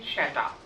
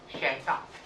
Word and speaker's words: Shatra: The Tibetan plenipotentiary was Longchen Shata, which is often written as Shatra in English, but the pronunciation in Tibetan is Shata.